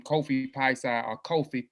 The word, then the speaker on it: Piesie: what my name i picked his name kofi paisa or kofi peshe is how the last name should be pronounced it's a p p shape um but